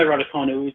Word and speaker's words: Raducanu: Emma Raducanu. Is it C pronounced K rather than a Ch? Yeah, it's K. Yeah, I've got my studio manager nodding in agreement. It's definitely Raducanu.